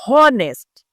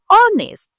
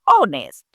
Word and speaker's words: honest: The H is silent. We don't say hest, we say honest. Meaning we start from zero. We say honest.